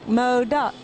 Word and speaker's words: MODOC: people like it, and it's easy to chant. 2 syllables. Yeah, and how's that go? MODOC, MODOC.